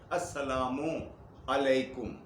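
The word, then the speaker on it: السلام عليكم: Meme के ऊपर पेश लगाकर ओ की आवाज निकाला करें। अस्सलामु अलैकुम, वाव नहीं है, ये याद रखें।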